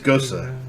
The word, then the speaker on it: Gose: So I feel like It's Gosa. Gosa? Gosa, which I mean, it's actually just says ghost, but Okay. Gosa is actually the pronunciation.